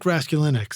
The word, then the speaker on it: Raskulinecz: Tell us about Nick Raskulinecz. And am I pronouncing his name?